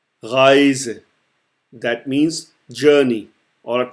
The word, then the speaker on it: Reise: Reise. Reise.